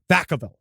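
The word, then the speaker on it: Vacaville: The house was way out of the country outside a town called Veavville. Unfortunately, pronounced Vakavville.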